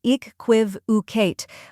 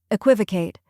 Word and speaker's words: equivocate: Next is quiv, which rhymes with give and has a KW sound at the beginning, like quick.